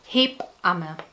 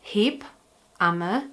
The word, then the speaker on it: Hebamme: The today's word is Hebamme or Hebamme. Some pronounce it Hebamme and some say Hebamme.